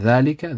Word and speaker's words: ذلك: And ذلك, the alif after the dal, is pronounced but not written also.